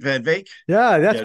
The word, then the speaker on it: van Wyk: know you don't put the Ws are pronounced as V's I actually I met